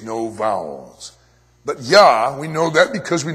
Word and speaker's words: Yahweh: mysterious but the first the first syllable at least that much we know and that would be yah presumably the name would be Yahweh but all we have